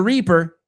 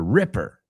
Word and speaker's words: Ripper: It's not Jack the Reaper, right? The Reaper. It's Jack the Ripper.